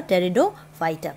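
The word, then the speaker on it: Pteridophyta: all ferns come under teredo fighter p is silent so uh first characteristic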